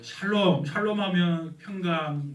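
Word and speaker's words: שלום: 샬롬의 은혜가 치기를 원합니다 한국 사람들은 저도 그렇고 샬롬의 발음이 잘 안 돼요 어떻게 하는가 하면 살롬 그렇게 발음이 되면 러분 살롬 반대말이 뭐예요 죽을놈 죽을 놈이 되죠 오늘 사망 권세를 깨뜨리시고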